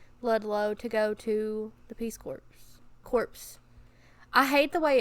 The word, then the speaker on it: Peace Corps: No, they spell it, the P is silent. And it pisses me off. Yes, because I want to say corpse.